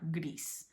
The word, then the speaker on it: gris: So the letter I in Spanish always makes the E sound. That was hard for me to remember, but once you get it down, like it's not hard, gris. So this is literally spelled like how we would say, like Grease, the movie.